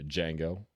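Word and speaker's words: Django: mind would be uh D Jango the D's silent uh with uh with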